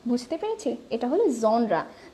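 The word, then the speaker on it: genre: সো the word হিয়ার ইজ জনরা, ইটস জনরা, জেনরা, জেনর এরকম কিছু না, ইটস জনরা। সো এখানে যে জিনিসটা সেটা হলো জনরা। আমরা কি বুঝতে পেরেছি, এটা হলো জনরা।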